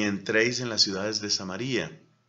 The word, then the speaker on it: Samaría: en las ciudades de samaría la verdad es que es amaría otros pronuncian samaria era considerada por los